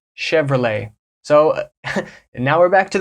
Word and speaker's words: Chevrolet: car brand from America Chevrolet Chevrolet so now we're back to the French sounds you're not pronouncing that T at the end it's chevr you pronounce